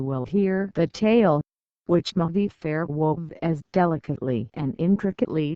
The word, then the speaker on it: Mavi Fare: bot note for readers M fair is pronounced m v far e and means literally Blue